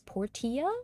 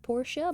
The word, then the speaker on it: Portia: dude pronounced it was Portia it's not Porsche but Port Portia I don't know we'll